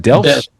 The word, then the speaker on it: Delft: Um and a postoc at TU Delfts. Is it Delft?